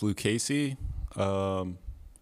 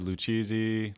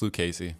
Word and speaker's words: Lucchesi: so far feel comfortable everyone's pretty professional it's pronounced lucasy usually people mess it up but it's okay because i'm used to that um i've heard lucizie luchesi but yeah it's luke casey but i'm so used to that so it's